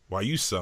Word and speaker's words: Guayusa: Guayusa, I'm sorry. It took me forever to figure out how to pronounce that.